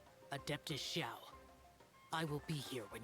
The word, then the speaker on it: Xiao: game is Adeptus Xiao, with an SH. But the proper pronunciation, as far as I'm aware, is Xiao, with an S, no H.